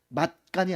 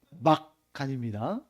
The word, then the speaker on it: 막간: 여기서 막간 장면 발음을 잘해야 돼요. 맛간이 아니에요. 막간입니다.